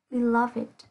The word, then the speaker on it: beloved: Lưu ý nhé, sẽ có một vài trường hợp là tính từ đặc biệt sẽ được phát âm là ed.